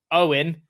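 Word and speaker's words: Eoghan: along with owen is the irish version of owen and it's pronounced exactly the same so his name is spelt a e-o-g-h-a-n and he said along with e o i n they're all pronounced owen while it is a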